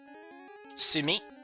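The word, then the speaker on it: 墨: So if you if you're practicing calligraphy or like Japanese writing, you use Sumi. Sumi is how it's pronounced.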